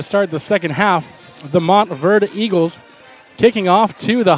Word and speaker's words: Montverde: On a note for the away team, I've been informed that it is pronounced the Montverde Eagles and not the Montverde, so apologies towards Montverde Academy.